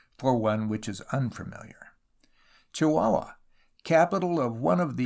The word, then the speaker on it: Chihuahua: wilderness is broken by chihuahua of which cunningham graham used to write fondly pronounced chihuahua in london but locally chihuahua i broke my journey